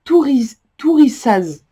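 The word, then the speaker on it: Thurisaz: Alors voilà, ça se prononce Tourissaz.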